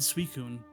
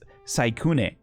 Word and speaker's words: Suicune: I always said Suicune. Suicune. The way you pronounce it. I don't remember. Like Suicune is how I would always pronounce it. I think Suicune, but it's Saikune.